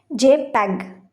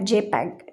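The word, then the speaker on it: JPEG: जे पैग। ठीक है? इसको कैसे प्रोनाउंस किया जाता है? एमसीक्यूस में आ सकता है। जे पैग।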